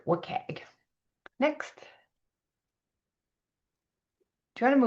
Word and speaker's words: WCAG: web content accessibility guidelines, WC A or we pronounce it wagg.